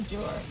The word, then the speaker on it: Duart: Is it pronounced Druitt? I say Duart. Duart. Duart. Duart. I've said it completely wrong.